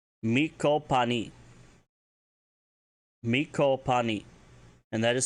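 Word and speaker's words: me'copaani: Miko pani. Miko pani. And that is spelled M-E Beton C-O-P-A-A-N-I.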